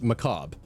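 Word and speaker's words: Mechabre: to Bungie it's a pun and it's actually pronounced Macabre a lot of people seem to think that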